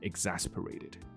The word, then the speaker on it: exasperate: 所以在一小时后，这个 exasperated，这就是我们今天想讲的两个啊、很值得看的字。Exasperate 就是被人家搞得很烦。So the doctor became exasperated. 那另外一个字叫做 exacerbate. 那 exacerbate 是把一个东西弄得更糟，好，更暴力，更狂乱，更 bitter 或者更严重，好，变严重了。所以基本上就是跟 make worse 有点像。我们把发音来调整，再调一下，因为我发现我的那个 line 的那个群组，所以要是你不知道的话，我们现在有一个 line 的群组。那你可以反正免费加入，那是一个感谢 Andy 其中一个我们的朋友帮我们设置的。那你可以在里面，就是找一段话啦，然后把它录起来啊。然后我听了以后，当然我多半都是一天的结尾的时候，可能是两三点才听哈。那可是这个东西无常嘛，所以你要你奈我何？好，反正我会听，然后我可能会给你一些些。发音上的建议啊，或这些的，所以我发现到蛮多同学是对发音的这个调整是有兴趣的。那所以我们在影片中，我们也把这两个字念清楚一点点。你看到这里有清楚的 s，